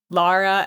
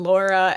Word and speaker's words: Laura: It's Laura with a U. So, like, it's somewhere in between Lara and Laura, and now that I'm thinking about it, I will not even say it right, and it's my own name. So, like, honestly, anywhere on that spectrum is totally fine with me.